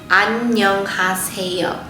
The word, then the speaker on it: 안녕하세요: So if you go to the 4th syllable in this word, 새 has 2 vowels, 어 and 이. So when we put the 어 and 이 together, it makes it sound 에.